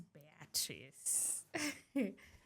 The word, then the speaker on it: Beatrice: My name is Beatrice. Actually, that is the right pronunciation.